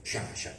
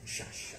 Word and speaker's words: Sciascia: E concludo, e non potevo che concludere con una frase di Leonardo Sciascia, come lo chiamate voi, noi palermitani Sciascia, non lo sappiamo pronunciare, invece è bello il vostro assonante, vibrante Sciascia, estratto dal libro Nero